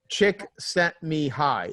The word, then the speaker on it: Csikszentmihalyi: Mihaly Csikszentmihalyi. Yes. Whoever can pronounce that, good on you. It's Chick sent me high is how you've remembered her.